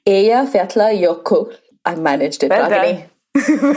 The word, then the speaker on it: Eyjafjallajökull: So after the 12th attempt at me pronouncing this word, there was a volcano that erupted in 2010. It was called Eyjafjallajökull.